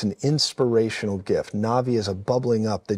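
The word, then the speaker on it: Nabi: Two, Navi. N-A-B-I. And it's pronounced like Navi, like the... There's a movie called Avatar, the Navi, but it's pronounced that way, but it's N-A-B-I.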